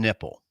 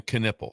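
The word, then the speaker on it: Knueppel: The K, I think, is silent. Right? Every time I've heard his name's pronounced, it's been Knipple. Okay, Con Knipple. That's just how I've heard it pronounced.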